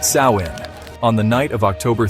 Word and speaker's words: Samhain: The Kelts celebrated a festival called Samin, pronounced Sawin, on the night of